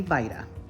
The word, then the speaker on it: Vida: And so in order to pay proper respect to the family, it's important to know how to properly pronounce the name, and that would be Vida.